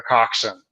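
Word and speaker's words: coxswain: because there are no cxn stands for the coxen and that's if you spell it out the word is spelled cxw and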